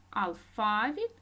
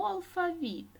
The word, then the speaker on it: алфавіт: літери алфавіт алфавіт алфавіт це слово діти має два наголоси ми можемо сказати алфавіт або алфавіт наступне слово будь ласка